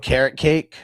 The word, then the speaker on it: Okereke: I call him Okereke. Yeah. So I'm going to take Okereke. Yeah, I think it's really pronounced carrot cake.